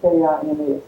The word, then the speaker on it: Haskins: They call him Huskin. How would you think that would be spelled? That's it. But that's right, Huskins is all I ever heard. That's all I ever heard too. But it's spelled Haskins and every which way.